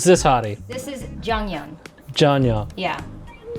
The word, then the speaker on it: Jeongyeon: Janya. Yeah. It's spelled Jeongyeon.